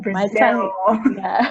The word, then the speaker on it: Brazil: But you just want to think about where your tongue hits your teeth, and that's the L that you want to make.